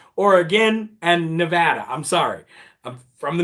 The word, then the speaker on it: Nevada: to say nevada too i shouldn't say nevada i should say nevada or again and nevada i'm sorry i'm from